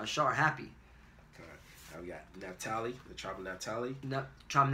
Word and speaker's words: Naphtali: And she called his name Naphtali, or in the Hebrew is Napatalia, which means my wrestling. Yeah, kind of. Okay? The Yah is my, or Naphtali is wrestling, and the Yah at the end makes it my wrestling.